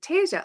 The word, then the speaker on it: Tasa: And Tasa, it took me forever. She's like, "It's Asia with a T." Tasa.